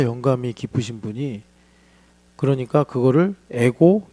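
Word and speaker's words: ἐγώ εἰμι: 기쁘신 분이 그러니까 그거를 에고 이걸 에고라고 읽거든요. 에이미. 에고는 뭐냐면 영어로 i. 미는 M 이거예요.이 방식으로 썼는데 이게이 방식이 어디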